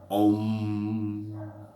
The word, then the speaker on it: Om: E ele é pronunciado como Om.